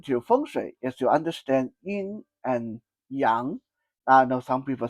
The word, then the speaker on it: yin and yang: Number two elements to understand with regarding to fun is to understand y in and yang. I know some people say y in yang but the proper pronunciation yin and yang.